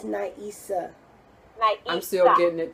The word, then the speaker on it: Na'Isah: So, Naisha. No, Did I say it right? Naisa? no, it's Naisa.